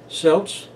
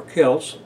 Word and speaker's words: Celts: hundreds of place names silts lived on or celts whichever pronunciation you prefer lived on the central